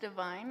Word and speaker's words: Devine: It's pronounced divine.